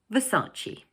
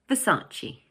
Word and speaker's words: Versace: But in English we pronounce it 'Versace'. Notice that the word has three syllables and the middle one is stressed. So we say Versace.